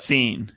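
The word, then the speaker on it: Cine: down um about is it Lou chin or sign how' you pronounce it scene it's actually pronounced there you go nailed it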